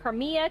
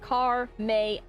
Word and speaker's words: Carmea: Like some people are like Carmia, Carmia, and I'm like no, it's just car may like cars in the vehicle. May is in the month and uh just like